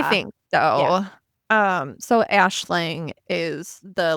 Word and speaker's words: Aisling: So I Googled and assuming it is meant to be Irish, which is what the Google said, it is pronounced Ashling, Which I'm which assuming it made is.